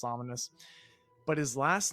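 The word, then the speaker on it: Ominis: i s I think but still pronounced ominous but his last name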